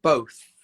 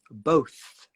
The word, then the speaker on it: both: but who knows um how do you say both both both and then you bring that tongue between the teeth to make the sound both all right um okay